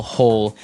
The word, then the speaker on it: hoe: make maybe a small hole in the ground you would use a spade and now our last tool has a Kind of a Funny spelling it's h o e and it's pronounced ho ho so again this